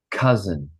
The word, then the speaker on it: cousin: try the next word cousin cousin cousin cousin cousin cousin yeah and it sounds like this it's got like the z z cousin cousin cousin cousin and